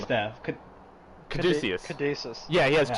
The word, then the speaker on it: caduceus: white, and he has two red, oh god, codices? Is that how you pronounce it? Well, It's I the don't know what medical that means. symbol. It's like the it's like the snake wrapping The around. Caduceus staff.